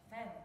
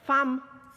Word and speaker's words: Fam: Nazywa się Fem. Fam. Wczoraj mnie Malwinka poprawiła. To nie z angielskiego.